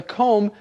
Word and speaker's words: comb: can use a comb remember the comb has no B sound at the end c o m b but you don't say the b just com yes it's one of